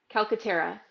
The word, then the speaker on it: Calcaterra: What I just want to make sure I say yes, Calcaterra. good. All right, good. All right. You had it right. It's Calcaterra.